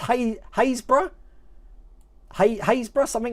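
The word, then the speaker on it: Happisburgh: go happy spur there happiest bird that's actually pronounced hey haysbruh haysbrough something like that it is nothing like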